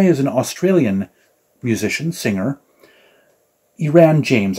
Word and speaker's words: Iran James: Iran James, I think is how you pronounce the name. It's not Aaron, but it's Iran, I think.